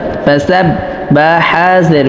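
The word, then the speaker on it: فسبح: ফা জবর ফা, সিন বা জবর সাব, ফাসাব বা হাজের বিহ, ফাসাব্বিহ, এই হাটা অবশ্যই কণ্ঠনালীর মধ্যখান থেকে উচ্চারণ করতে হবে, নাহলে কিন্তু পরিপূর্ণ হরফ আসবে না।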